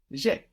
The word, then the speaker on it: j'ai: I have in French is j'ai. This is spelled J apostrophe A-I. So have there is A-I, but je and e contracts and we get j'ai. J apostrophe A-I, j'ai.